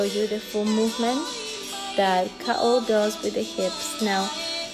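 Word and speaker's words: kaʻo: This step now, it's called ka'o. And ka'o is the foundation for all those hula steps. So we want to get this one in. It is spelled K-A, Okina, or apostrophe O, Ka'o.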